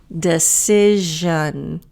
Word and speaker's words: decision: The S does not sound like an S. Decision.